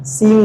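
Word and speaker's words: Xia: एक्स आई ए एक्स आई ए इसको सिंह dynasty पढ़ा जाता है। क्या पढ़ा जाता है? सिंह डायनेस्टी पढ़ा जाता है। स्पेलिंग में से मैच नहीं करेगा। स्पेलिंग पे मत जाओ। इमोशन पे जाओ। सी सिंह डायनेस्टी कहा जाता है।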